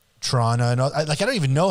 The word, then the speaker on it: Toronto: And like you can say Toronto, and you can say Toronto, and I don't even know how I say it, but I don't say Toronto. You don't pronounce the T, and that's fine.